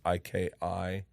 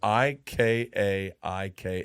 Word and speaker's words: Ikaika: It's IKIA. No, it's IKI. Maybe. IKAIKA is how you say it.